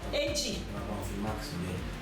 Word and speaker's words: èjì: Èjì. A, G. Let's see, go for that. èjì, èjì. Now, ọ̀kan, how many syllable?